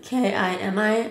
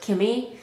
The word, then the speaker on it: Kimi: they spell it like k i m i I don't know but I thought it was kind of funny cuz I saw some people pronouncing my name like that like Kimi instead of kimy if they say k